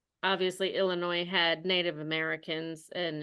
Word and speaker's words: Illinois: Illinois and it's obviously Illinois had Native Americans and it's very ingrained in our culture there and we don't pronounce the S but when the movie